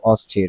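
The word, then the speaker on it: austere: আর অস্থির এটার এটার বানান কিন্তু উচ্চারণ কিন্তু অস্থির বানানটাও কিন্তু খুব একটু কঠিন এ ইউ এস টি ই আর ই অস্থির তারপরে স্পিরিচুয়াল সেফ ডিনাইং সেফ এটা কেমন যাই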